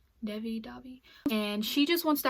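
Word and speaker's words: Devi: Pronounce her name Davi. Davi.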